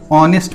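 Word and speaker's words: honest: शुरू होता है, लेकिन ऑनेस्ट पढ़ते हैं। ओके, ऑनेस्ट बॉय, तो ऑनेस्ट बॉय में ओ आ रहा है, ओ का साउंड, है ना।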